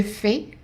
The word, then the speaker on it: fais: So it's the same word, it's written the same way, and the S is silent, the AI is an A. So je fais, tu fais.